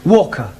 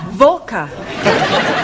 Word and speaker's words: Walker: Walker Walker but W is pronounced well your employer's name is Walker yeah Valka do you know how many shots mrs.